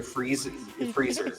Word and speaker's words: Frieser: That's how you say it, right? Freezer. I've heard it. Yes. Freezer. Yeah, like a freezer.